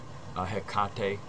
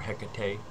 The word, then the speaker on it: Hecate: there was the triple-faced goddess, Hecate or Hecate, however you want to say her name. To me, depending on which syllable of the three syllables, and interesting, there's three syllables there: he, or ka, and te.